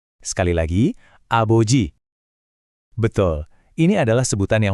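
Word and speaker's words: 아버지: Dengarin baik-baik ya pengucapannya dan coba ikuti. Siap. Aboji lagi. Aboji sekali lagi. Aboji.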